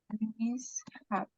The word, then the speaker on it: mishap: Mishap. Mishap. Mishap. We say mishap. Not mishap, but mishap. Like two different words. Mishap. Okay. The pronunciation is like separate.